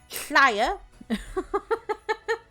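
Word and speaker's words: Llŷr: So for the Children of Leah, Llaya, the double L is a hl sound.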